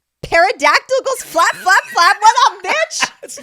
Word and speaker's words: pterodactyl: The parodactyl goes flap flap flap. What a It's not a pterodactyl. Pterodactyl. Did the P is silent?